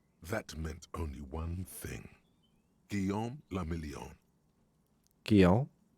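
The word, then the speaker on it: Guillaume Le Million: meant only one thing guillaume lamillion kill if it doesn't rhyme you're not pronouncing it right guillaume the meon right got it out of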